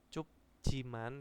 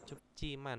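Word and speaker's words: 춥지만: cupcian sangat dingin Heeh Ini bukan Cup Jiman tapi cupciiman ya jinya Ini dia berubah menjadi C ya karena apa di sini ada hukum bacaan juga jadi Meu cupciiman sangat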